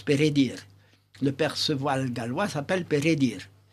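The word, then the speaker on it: Peredur: la version galloise de Pérédur. En réalité, ça se prononce Pérédir.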